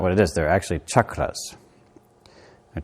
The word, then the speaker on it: chakra: more fun to say i feel like i'm going to be shocked which is fun versus chucked which is not so we have chakra